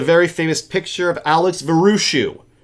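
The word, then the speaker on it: Vraciu: famous picture of Alex varushu I only know how to say his name because I've watched many interviews where you say it's just like cashew which because if you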